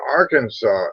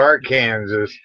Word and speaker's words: Arkansas: did you know that in if you're in Arkansas and you mispronounce the name Arkansas it's a Mis me